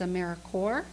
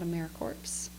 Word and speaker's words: AmeriCorps: end of it but the pns are not pronounced so when you're saying it's AmeriCorps not a mere corpse and also when you're writing you're going to